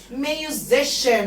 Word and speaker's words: musician: musician برضو بصوا السي هنا جه وراها اي واي عشان كده اتنطقت ش.